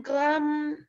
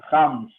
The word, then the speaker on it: grammes: Comment tu prononces gramos? Grammes. Ah, répète. Grammes. Ah, oui, voilà. Parce que moi, j'ai entendu grams.